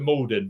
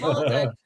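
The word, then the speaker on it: Maldon: Malden is a but actually think to the locals when they call it Molden. Molden and Tik actually tried and pronounced it like that and it was Molden.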